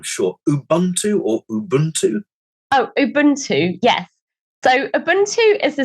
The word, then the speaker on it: Ubuntu: So tell us about, I'm going to pronounce this wrong, I'm sure, Ubuntu or Ubuntu? Oh, Ubuntu, yes.